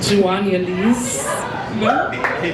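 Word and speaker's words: Juanialys: My name is Joan Lee.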